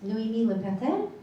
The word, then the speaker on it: Noémi Le Pertel: It's Noémie Pertel, but you got it.